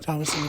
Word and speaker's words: Thomasin: Thomasin McKenzie? Thomas and McKenzie, yep. Thomasin McKenzie.